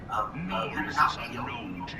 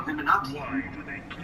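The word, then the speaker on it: Viminacium: But here we have 3rd century in a Roman city called Viminaccio. That's how you say it. Or Viminaccio.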